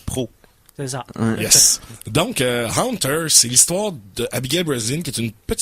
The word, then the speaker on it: Haunter: Donc, le film s'appelle, j'ai toujours de la misère à bien prononcer, le film s'appelle Haunter, comme le hanteur. Ok, Hunter. Haunter.